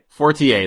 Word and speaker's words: Fortier: Fortier? Fortier, the French way.